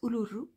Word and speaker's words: Uluru: Alors oui, ça se prononce Uluru parce que c'est en fait l'ancien nom, enfin,